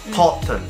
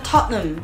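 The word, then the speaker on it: Tottenham: 跟住佢讀 Totten 吃，咁你又衰咗啦。因為咧原來個 H 唔發音啊，你讀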